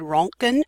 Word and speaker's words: Röntgen: the original or the the actual pronunciation and German is dr. Wilhelm Conrad röntgen and that's the Oh with the two little dots please understand that